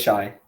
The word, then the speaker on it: Shai: Is he Shy or is he Shea? It depends how you pronounce it. Okay, but to get it right. Sorry, is it Shy or Shea? I think it's Shai.